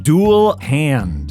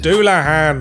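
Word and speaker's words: Dullahan: ones I can pronounce an hair jar it's pronounced Anar say tires it's satas okay I think I got this one duel hand duelan it's a Headless Horseman from Irish folklore you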